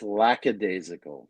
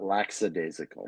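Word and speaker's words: lackadaisical: you pronounce it laical it's lacad desal not laxidasical Mich is it really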